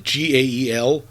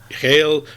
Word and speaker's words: Gael: And I don't know how to pronounce the first one. I think it's Gael. It's Gael Garcia Bernal, and the guy's a legend, and what a voice he has.